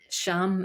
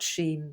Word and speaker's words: Sham: There's indigo, which is the physical note music of A, and the meaning is sham in pronunciation, not shame, but sham.